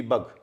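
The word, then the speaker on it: bug: जैसे आखिर में हो जी, बी यू जी बग, डी आर ए ji drag, B ए जी बैग, ग हो रहा है। तो आखिर में अगर जी होगा तो हमेशा ग होगा, और जी के बाद ई आ जाएगा तो ज हो जाएगा।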